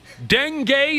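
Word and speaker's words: dengue: it you really honestly Denay is how you say it Denay yeah uh okay it's a mosquito born disease they had some of that Den gay pass through Paris recently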